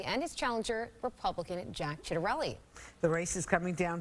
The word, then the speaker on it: Ciattarelli: It's great to be here, and my compliments to both of you for the correct pronunciation of Ciattarelli.